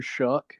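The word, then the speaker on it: Shough: I like the quarterback Tyler shook I think that's how you say his name even though it's spelled like show I don't really know um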